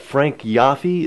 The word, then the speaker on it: Yoffe: Good Fortune of West Morland we've now got Frank yafi is that yeah that's how you pronounce it okay uh as West Morland condo